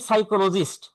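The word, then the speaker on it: psychologist: Punishment এখন আসি child সাইকোলজিস্ট পরের line child সাইকোলজিস্ট thing সাইকোলজিস্ট মানে মনোবিজ্ঞানী সাইকোলজিস্ট বানানটা কঠিন আছে বানানটা একটু দেখে নিবা কারণ এই বানানটা অনেক জায়গায় আসে ইম্পর্টেন্ট খুব যদিও উচ্চারণটা হচ্ছে সাইকোলজিস্ট।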